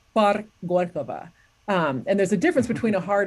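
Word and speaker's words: Парк Горького: worked on my pronunciation, learning how to pronounce things like Gorky Park is in Russian is Park Gorkova.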